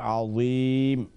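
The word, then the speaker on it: عظيم: কথা না, তবে হ্যাঁ, ইংলিশে উচ্চারণ যখন করা হয় তখন যাকে কেউ কেউ ডি এইচ এই উচ্চারণ করে, আযীম আযীম, তো ডিএইচের কারণে বোধহয় আপনি আদিমে আসছেন, এটা মানে দোয়াদ পড়তেছেন, আসলে অক্ষরটা দোয়াদ না, এটা যা, তোয়ার পরে যেটা, কেমন, এটা হচ্ছে যা, সুবহান রাব্বিয়াল আযীম। আশা করি ক্লিয়ার হয়ে গেছে বোন, এটা দাল অথবা দোয়াদের উচ্চারণ আসবে না।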